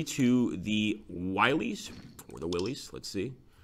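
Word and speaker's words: Willys: I'll take a look here and see if any of you guys have cracked the pronunciation there. Willies. Ah, it's a Jeep. Okay, okay. So it is Willies.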